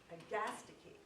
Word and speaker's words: Agastache: Well, if you look at the Kew Gardens pronunciation, it's Agastache.